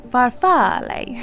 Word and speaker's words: farfalle: italian did not know that and the italian pronunciation is farfalle farfalle or just farfalle so there you go